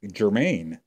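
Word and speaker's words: Germann: Chandler uh Queen Creek Germaine oh yeah it's spelled German yeah with two ends yeah and everybody says Germain and at first I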